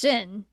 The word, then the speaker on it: Xen: Yeah, that was another thing is uh like Xen is supposed to be pronounced Zen.